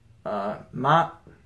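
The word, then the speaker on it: 妈: And this is pronounced, I ran out of space. Ma.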